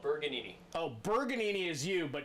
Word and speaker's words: Bergagnini: No, it's called Bergagnini.